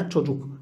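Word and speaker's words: çocuk: تشوجوك تشوجوك تشوجوك، الآن عندنا تشوجوك، نعم تشوجوك، ليس من الضرورة أن نفخم، يعني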